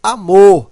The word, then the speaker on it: amor: Mesa e amor. Amor, certo? Então, o mor é a sílaba mais forte.